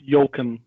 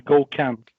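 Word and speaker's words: Gökhan: really cool Ken well I have like three pronunciations one in French one in Turkish and one in Dutch but it's definitely not Jochen it's go camp gokhan is Yammer MVP so even if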